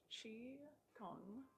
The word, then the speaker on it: qigong: here so it's title it's spelled q i but it's pronounced chi kung um and it's for